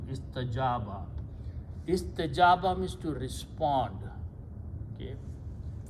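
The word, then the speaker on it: استجاب: First of all, istajaba, this waw is pronounced as alif because of a fatha, so it becomes istajaba.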